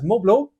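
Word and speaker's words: mobiles: a general population they're referred to as moblo uh silent T and Silent s by the way at the end because French and so they needed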